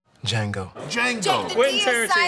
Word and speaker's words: Django: Django.